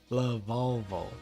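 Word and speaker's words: Lavalval: for sure i've always had a problem time pronouncing this lavallo la volvo love volvo there we go ignis two level three monsters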